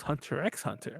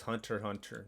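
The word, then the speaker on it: Hunter × Hunter: maybe leslie or someone corrected the hunter hunter thing because i always thought it was hunter x hunter and i actually watched that one yeah it's hunter hunter leslie was telling me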